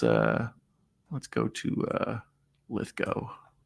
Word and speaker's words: Lithgow: to uh lith go as I understand it it's supposed to be pronounced I always say Lithgow because that's how I said it my whole life but apparently it's like rainbow lith go that's what he says um John Lithgow actor